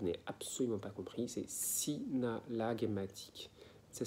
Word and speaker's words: synallagmatique: dans le move n'est absolument pas compris c'est synallagmatique ça s'écrit s y est n'a de zèle à